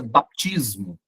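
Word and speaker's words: βαπτισμός: No grego essa palavra escreve quase igual, mas se pronuncia baptismo.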